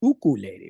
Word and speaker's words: ukulele: Kind of like ukulele is really pronounced ukulele, right?